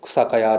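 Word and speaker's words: 草切り: 草切りというのは草かやです。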